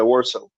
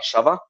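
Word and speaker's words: Warszawa: The pronunciation. I mean, that's the that's the that's the English name for it. Yeah. Warso.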